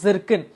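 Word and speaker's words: Zircon: इसको मतलब इसकी एक्चुअली जो स्पेलिंग है दैट इज दिस, तो इसको प्रोनाउंस किया जाता है एज अ जर्किन.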